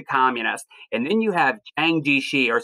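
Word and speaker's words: Chiang Kai-shek: And then you have Chiang Ji-shi, or sometimes I'll hear it pronounced like not with a J, but a CH, like Chiang Ji-shi.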